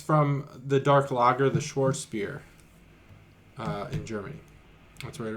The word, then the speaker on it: Schwarzbier: Yeah, Schwarzbier. Got it. Not Schwartz, because I don't Not think Schwartz. There's no T. There's no T, just a Z.